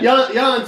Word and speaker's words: Jon: Jan, so you don't, his name is Jan, but it's spelled Jon. So I've called him John accidentally a couple of times.